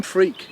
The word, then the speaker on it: Freke: And I But I am freak. It's how it's pronounced in England.